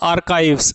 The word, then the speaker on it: archives: Next word is आर्काइव्स। इसका pronunciation आपको ठीक रखना है, इसको बोला जाता है आर्काइव्स।